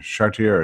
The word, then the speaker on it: Chartier: by Gary chier uh Sher chartier or chier depending on how you want to pronounce it um historian of of